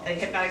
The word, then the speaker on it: Hpnotiq: Hypnotic spelled like drink, HPNOTIQ, Sam.